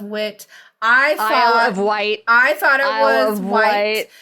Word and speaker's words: Wight: No, you thought it was Wit. Yes, I thought it was Wit. I'm sorry, correction. It's the Isle of Wight. It's the Isle of Wight. Spelled like light, but with the W.